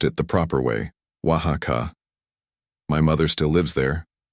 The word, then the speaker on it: Oaxaca: She pronounced it the proper way, Oaxaca.